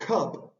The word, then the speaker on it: cup: que en este caso lo que está intentando Mostrar Es que la u se va a pronunciar como una a abierta cuando está en una sílaba que termina en consonante c pero en human